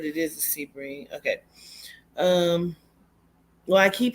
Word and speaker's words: Sebring: keep hearing Sebring yeah is that how you pronounce it Sebring it is um okay I'm gonna write that